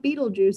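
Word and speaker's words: Betelgeuse: star that's named beetlejuice it's not spelled like beetlejuice like the movie it's spelled like i'm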